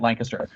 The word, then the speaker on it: Lancaster: up we are the only Lancaster that pronounces it Lancaster we we fullon have t-shirts that say l n and then k i SS and then t r so so that everybody gets it how did you how